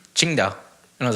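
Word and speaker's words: Tsingtao: all I drank was Qingdao Qingdao yeah chin down really yeah which is spelled TSI ng t AO hmm oh okay so but it's not singing scout oh yeah oh I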